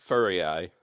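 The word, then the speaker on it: Furiae: I think they pronounce it furry eye. Yeah, furry eye. Furry eye. Okay, furry eye. Just imagine an eyeball with fur on it and you'll never forget it.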